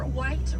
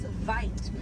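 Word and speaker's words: wyd: Original word for white rhino was vite. Vite means wide in Afrikaans, but over time it was misheard and mispronounced and it turned into the white rhino.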